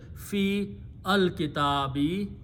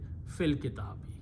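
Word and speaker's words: في الكتاب: Instead of saying fi al kitabi, okay, fil kitabi.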